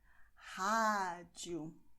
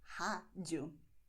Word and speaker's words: rádio: And what this means is that we are going to have an open sound, as I told you before. Rádio. My mouth is okay? Rádio.